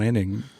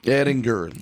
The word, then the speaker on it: Edinger: my good buddies uh John eding Edinger Edinger a hard G yeah he was probably